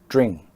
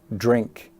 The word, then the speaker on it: drink: Well, they sometimes drop the K sound. So they will say dring and thing instead of drink and think.